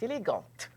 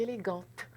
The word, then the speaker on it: élégante: ok mais patricia et élégante et à ce moment là on prononce la consonne final ce qu'en général on